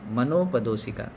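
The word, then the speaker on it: मनोपदोसिका: आते ओके मनो मन मनाप नहीं मनो मनोप दोषिण पदो सिका ऐसा हा ये शब्द अच्छा है मनो पदो सिका ओके मनो पदो सिका मतलब उच्चारण में ऐसा करना है तो इस तरीके के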